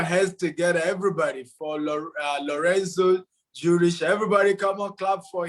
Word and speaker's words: Jooris: Is it Jooris or Jooris? Jooris is perfect. Yeah, you got it right.